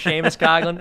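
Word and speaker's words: Seamus Coughlin: on twitter yeah it's spelled see mrs coughlin pronounced sheamus coughlin uh james cogan on twitter or just look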